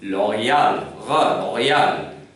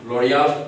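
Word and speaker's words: L'Oréal: it's a french word although the original french sound is loyal but you can pronounce it l'oreal even that is correct so i hope you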